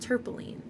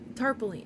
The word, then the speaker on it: tarpaulin: But it is pronounced tarpaulin. Tarpaulin.